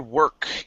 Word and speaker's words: work: right let's go to the word work here make sure to pronounce this k okay um it didn't